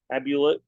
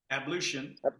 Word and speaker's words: ablution: Deva as the sun rose took his morning abusion is that correct ablution ablution thank you in the waters of the